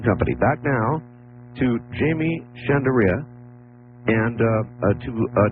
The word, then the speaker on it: Shandera: Now, Art, you're you're you're real close on my last name. It's Chandere. Chandere. Is it Chanderea? No, Chandere. Chandere. Chandere.